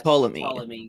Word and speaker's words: Ptolemy: Ptolemy. Say again? The P is silent. Is it? Yes, Ptolemy.